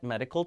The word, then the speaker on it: medical: 확인하실 수 있습니다 어쨌든 메디컬이 아니라가 모음과 모음 사이에서 리로 바뀌고 C 경화되서 끌이 되죠